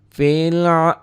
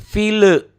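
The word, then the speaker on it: فيل: bawah nomor 3 ya fil fil jangan file Awas suka kadang-kadang orang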